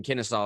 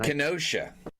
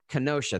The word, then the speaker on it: Kenosha: story that happened in Kennesaw over the last weekend. That's that city's name, right? I keep saying that, man. Kenosha. Kenosha. Thank you, buddy. I knew I was mispronouncing that.